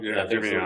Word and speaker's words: Gimignano: traveled Siena and San Giovanni, or however you pronounce that word. Gimignano? Gimignano.